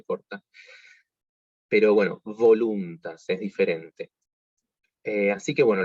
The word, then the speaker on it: voluntas: la del español es la V corta, que tiene que vibrar, no como la nuestra. Nosotros decimos vaca, no nos importa cómo decimos la V corta. Pero bueno, voluntas, es diferente.